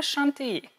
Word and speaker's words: Chantilly: I'm and today I'm making crème chantilly. Chantilly. Try to pronounce it with that French nasal sound.